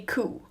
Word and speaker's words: coup: front of the skull this is called a cou cou P is pronounced qu and that is one of your